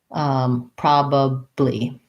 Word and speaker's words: probably: people have asked before we have first syllable stress the o says the clear ah vowel pro and then this a says schwa prob probably so thinking about it